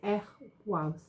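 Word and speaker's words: Ehwaz: This is, pronunciation is Ehwaus, meaning is you and tree.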